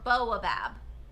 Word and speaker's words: baobab: I put in the uh how did we say yesterday that these are pronounc this is pronounced I think it's baobab baobab trees um or boabab depending on how you say it.